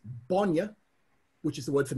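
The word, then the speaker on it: bainne: No, it's a broad B, so it's bonya. Bonya. Yep. And got it. Now I can correct people. And if it's got a short A, it's bonya, which is the word for milk.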